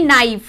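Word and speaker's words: knife: जैसे कि नाइफ, अब प्रोनाउंस नाइफ ये वाला वर्ड हो रहा है क्योंकि ये नहीं हो रहा, के साइलेंट हो जाएगा।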